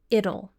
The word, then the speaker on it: it'll: Next, the contracted form of it will is it'll. It'll. We're pronouncing a flap T here. It's like pronouncing the word little, but without the L at the beginning.